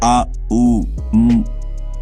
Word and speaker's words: ओम: जब आप ओम का उच्चारण करते हैं, आ उ म, तो यह तीन ध्वनियां आपके पूरे शरीर में कंपन पैदा करती हैं।